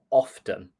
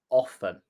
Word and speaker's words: often: And I personally say either, neither, and often. So I pronounce the T. However, there are many people in the south of England who might say either, neither, and often. That would also be 100% correct.